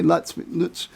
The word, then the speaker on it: Lutz: You're actually using the actual German pronunciation. I usually hear Lutz by, most Americans say Lutz.